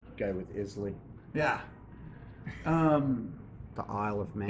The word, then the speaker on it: Islay: It's an Islay Scotch. I don't remember the name of the... A what? Islay? Isla or Islay, or I think Isla is the way the Scottish pronounce it. Go with Islay.